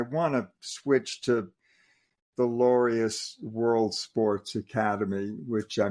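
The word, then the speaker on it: Laureus: with them yeah the lorious it's pronounced like the word glorious it's l u r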